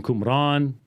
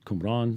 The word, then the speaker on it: Qumran: about the essenes from cumbran it's qumran that's how you say it um and I've got